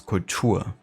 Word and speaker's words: Kultur: Whereas in German, it's like exactly the other way around, you know, it's Kultur. So emphasis on the second U.